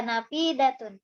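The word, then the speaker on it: نافذة: Tilka nafidatun. Nanya panjang, danya pendek.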